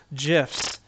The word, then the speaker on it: gif: go there they actually do have like little gifs of screenshots of little animations here that you